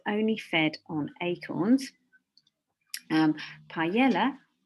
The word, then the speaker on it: paella: fed on acorns um paella or maybe you'd like to call it paella in the spanish pronunciation which is a rice